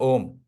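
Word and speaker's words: ཨོཾ: have only dot तो this one इ pronounced S ओम है ना जस्ट लाइक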